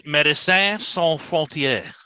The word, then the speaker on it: Médecins Sans Frontières: Médecins Sans Frontières. That's how you have to say it with a French accent. It's Médecins Sans Frontières.